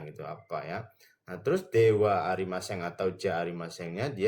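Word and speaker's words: では: Nah, terus Dewa Arimaseng atau Ja arimasengnya dia itu diartikannya bukan. Hai, hurufnya itu kan DH ya, Minasang tapi dibacanya jadi dewa. Dewa Arimaseng atau Ja Ariaseng.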